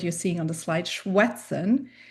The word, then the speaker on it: schwätzen: seeing on the slide, schwätzen, it is pronounced like the English W. It's a w sound, schwätzen.